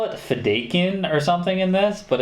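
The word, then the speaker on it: Fedaykin: one day had another planet they call it fedakin or something in this but it's pronounced fedaiken i know that from the miniseries and the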